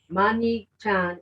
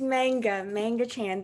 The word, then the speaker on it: Man Nga Chan: Mani Chan is our speaker. Did I say it right? It's Manga Chan.